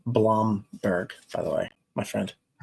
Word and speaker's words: Blomberg: So, and it's pronounced Blomberg, by the way, my friend.